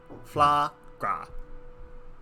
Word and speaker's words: Flaahgra: Is it like foie gras but flour? No, it's FLAAHGRA. Flagra.